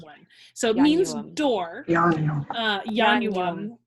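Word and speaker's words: ianuam: Yeah, it's 3 syllables. Got it. Yanuam. It's gross. Hold on. Anyway. So many vowels. Yeah. Sorry. And it's like, well, the first one doesn't count and the middle one's short.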